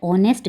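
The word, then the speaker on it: honest: ऑनेस्ट, इसका H silent है ना, तो ये ओ से स्टार्ट हुआ, इसलिए इसके आगे क्या लगेगा?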